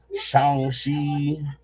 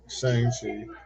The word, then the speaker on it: Shang-Chi: Whenever you see like a movie like Shang-Chi or Shang-Chi. Shang-Chi. No, it's Shang. That's how they pronounced it in the movie.